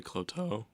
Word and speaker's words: Cloteaux: to introduce her yes this is uh kloto am I pronouncing your last name right yes okay I